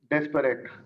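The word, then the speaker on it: desperate: तो सबसे पहला क्वेश्चन हम लेते हैं, डेस्परेट या डिस्परेट, दोनों प्रोनाउंस किया जाता है।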